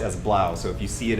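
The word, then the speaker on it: 3LAU: guy called three loud three lau but it's pronounced as blouse so if you see it as three lau it looks like blah Araya so I'm out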